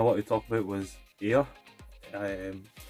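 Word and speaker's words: Aer: to talk about was air i am spelled a e r i think it's pronounced air and memories of old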